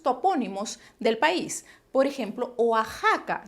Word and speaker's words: Oaxaca: del país por ejemplo oaxaca se escribe con equis pero se pronuncia como si fuera una jota texas se escribe con